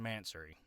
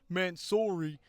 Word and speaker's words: Mansory: time I've been saying mansory. And y'all are probably sitting there thinking, "Oh, well, it's actually pronounced mansori and not mansery."